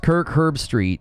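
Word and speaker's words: Kirk Herbstreit: of care you know it's pronounced Kirk herb Street you got it oh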